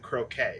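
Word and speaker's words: Croce: it's jim i looked it up apparently he pronounced it croquet it's c-r-o-c-e okay he was a singer in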